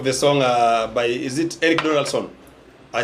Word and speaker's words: Eric Donaldson: I think it reminds me of the song by, is it Eric Donaldson?